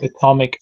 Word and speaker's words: atomic: You can call it atomic power station or atomic energy. That's absolutely right. Okay. Atomic? Yes, you pronounce this atomic. The stress is on the 2nd syllable.